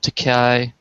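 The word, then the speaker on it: Takei: Uh so you mentioned Teay Te rhymes with okay and Tupe uh William Shatner.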